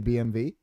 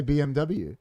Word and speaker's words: BMW: not actually BMW because in German that's pronounced it's actually BMV did you know that